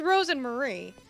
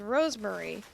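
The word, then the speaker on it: Rosemarie: actress says correctly cuz it is Ros and Marie but as you can see when it it's spelled out she says Rosemary and at first I was like is this a mistake but then at one point Ros and Marie said you're saying my name wrong so let it be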